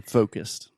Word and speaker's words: focused: So you really want to start with the O, and then move that into a U. So focused. Yes, because the way you were initially pronouncing this word sounded very similar to focus, which sounds very similar to...